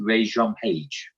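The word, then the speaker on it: Regé-Jean Page: said when I saw his name is it Rajon page there we go okay let's go with the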